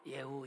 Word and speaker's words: 예후: 예후 이름의 뜻. 자, 예후는 히브리어로 이렇게 써요. 예후. 예후. 그래서 한글이랑 히브리어 발음이 똑같은데 예후, 이 예후는 예호바라는